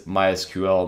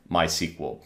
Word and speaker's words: MySQL: On the other hand, the DBMS MySQL, the developers of MySQL have actually said that the correct way of pronouncing this is MySQL, not MySQL.